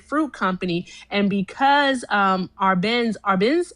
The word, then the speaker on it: Arbenz: And because um Arbenz, that's how you pronounce it.